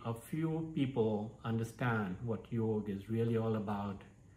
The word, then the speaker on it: yoga: few people understand what yoga is really all about how it is to be practiced what does it mean and most importantly how it is to be pronounced yog yog yog yogg namaste so